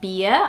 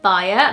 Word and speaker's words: Bia: The nickname for Beatriz in Portuguese is usually Bia, which is B-I-A, and over here it would probably be Baia, like bias, but just without the S.